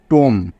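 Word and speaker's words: tomb: যোগ করলে হয়ে যাবে টুম টুম বোঝা গেল কোন সমস্যা নেই তো বুঝতে বি টা এখানে পড়া হলো না কারণ বি এর আগে এম আছে তাই বোঝা গেল টি ও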